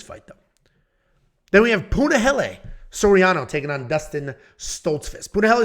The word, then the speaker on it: Punahele Soriano: Then we have Punahele Soriano taking on Dustin Stoltzfus. Punahele Soriano, fluid striker. Punahele Soriano, that is how you say it, is a very fluid striker.